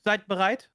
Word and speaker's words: Seid bereit: pronunciation? How do you say it? Sidebereit. It's already pretty good. Seid bereit?